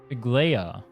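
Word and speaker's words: Aglaea: I beg of you, check out how to pronounce her name. Aglia. Aglaia. Agalia.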